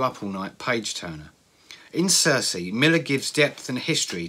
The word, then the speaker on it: Circe: called Circe now I have looked up the pronunciation of this and I am assured that it's Circe some classicists may refer to this as querque but I'm told that Circe is fine it's a it's okay to pronounce